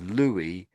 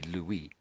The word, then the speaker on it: Louis: could pronounce that as Louie or Lewis. So it depends on where you are. It depends on if if you know it's a French person. Well it's got to be Louie.